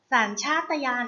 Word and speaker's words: สัญชาตญาณ: แรก ค่ะ คำ ว่า สัญชาตญาณ สาร ชาตยาน อ่าน ว่า สัญชาตญาณ สัญชาตญาณ ประกอบ ไป ด้วย ส